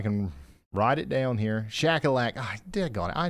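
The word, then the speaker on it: Shuqualak: Shackleac. I dig on it. I know that. I've said that 800,000 times. That's why this feature right here is going to really be a lifesaver for me. Shackleac.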